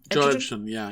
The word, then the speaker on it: Edgerton: Edgerton, yeah.